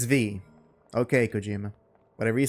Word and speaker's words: V: It's not 5, it's V.